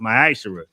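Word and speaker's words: מעשר: ti which is a commandment you can find this in numbers 18 verse 21 in Malachi 3:es 8-10 means 10th in the Hebrew it's pronounced myisher 10% of every penny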